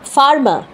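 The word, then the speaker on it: farmer: ভুল আছে তারপরে দেখুন ফার্মার was working in the field. এটাও ভুল। এফ এ আর এমই আর ফার্মা। উচ্চারণটা কিন্তু তা না। ফারমা সেখানেও কিন্তু আরটা উচ্চারণ হচ্ছে না। লাস্টের আরটা উচ্চারণ হচ্ছে না।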